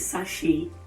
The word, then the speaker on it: sachet: call it pure water we call it sachet water but the right thing to say is sashi the second word we